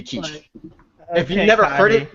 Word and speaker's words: quiche: I get that it's a foreign word. That's why it's pronounced the way it is. If you're just reading it, there's no way to know that it should be quiche.